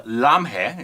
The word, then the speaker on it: Lamhe: by the way uh lamhe is how you pronounce it I would think so yeah uh directed by Yash